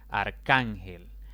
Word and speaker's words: arcángel: Arcángel es una palabra de 3 sílabas. La mayor intensidad recae en la penúltima sílaba, contando de izquierda a derecha. Y como no termina ni en N, ni en S, ni en vocal, sino más bien en otra consonante, en este caso la L, debo colocarle tilde.